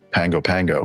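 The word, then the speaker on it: Pago Pago: Pango Pango and it it's looks p a o so I I thought you know that looks like pgo pgo to me but for some reason we pronounce it Pango Pango and I said so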